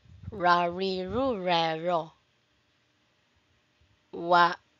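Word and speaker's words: は: Ha normally ha or wa but pronounced wa when marking the topic.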